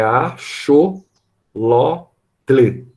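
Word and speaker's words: axolote: botei o nome dela se escreve com x Tá mas tem no resumo é achou loteli a o lote e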